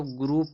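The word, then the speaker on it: group: यहां जो दिया जी आर ओ यू पी जो दिया इसको ग्रुप पढ़ते हैं।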